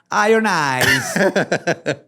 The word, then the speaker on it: Iron Eyes: Se pronuncia Iron Eyes.